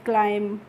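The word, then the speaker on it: climb: यहां पे फ्रेंड्स जो बी होती है, यह क्या होती है? साइलेंट होती है। इसीलिए हम इसका प्रोनाउंसिएशन नहीं करते हैं। क्लाइम नहीं पढ़ते हैं। क्लाइम पढ़ते हैं।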